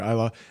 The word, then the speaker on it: Isla: I thought he did an amazing job also as that uh or Isa is how you say that.